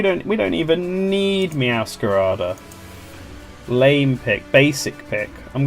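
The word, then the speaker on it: Meowscarada: So, where I don't think I have Mascara downloaded, so I'll do that now.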